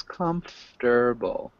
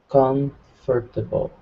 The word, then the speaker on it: comfortable: look at comfortable comfortable not quite so three syllables comfortable comfortable look at this and